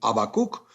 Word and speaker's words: Habacuc: del habakuk y también en el latín bíblico se habla de la misma manera pero no se pronuncia ni siquiera se aspira la primera letra esto es se le expresa como habakuk o se le expresa